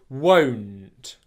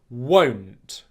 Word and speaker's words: won't: Now, the difficulty that my client was having was he was prolonging the sound through his nose, so it was sounding like this. N't, n't, n't. And in the word, it was won't, won't, won't. Okay? We don't want that.